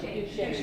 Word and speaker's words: Duchesne: And am I pronouncing it right? Duchesne, right? Duchesne.